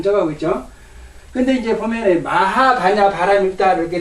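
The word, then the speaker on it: 摩訶: 이거 본래 글자는 가짜인데 본래 글자는 가짜인데 이걸 갖다가 마가라고 읽지 않고 마가라고 읽지 않고 마하라고 읽는단 말이에요.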